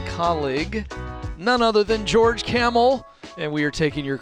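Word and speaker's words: Kamel: means a lot yeah camel thank you by the way tell people how it's spelled if they're new to you it's with a k a-m-e-l like the animal and i will say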